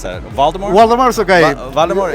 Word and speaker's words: Waldemar: Waldemar? It's a strange name. Usually in my country, I born in Uruguay, is Waldemar. But when you go to Europe, the people say Waldemar. Waldemar.